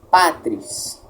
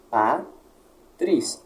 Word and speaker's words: patris: Outro exemplo, patris, 2 sílabas, patris, automaticamente, pá se torna tônica.